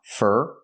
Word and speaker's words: for: For is pronounced fur because it's not stressed.